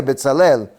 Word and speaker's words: Betzalel: nombre es betzel Kel betzel Kel significa o sea se pronuncia betzalel en la sombra de